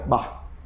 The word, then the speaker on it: Bach: pro mundo todo, mas a pronúncia alemã que é bar, né?